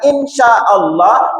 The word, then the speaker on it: insya Allah: Tetapi kalau sampai ibu pendekin mengatakan insya Allah, itu artinya aku menciptakan Allah. Kalau itu kapal belakangnya dikasih huruf D. Ya, cukup bilang insya Allah. Ya. Sinnya dipanjangin, jangan sampai mengatakan insya Allah.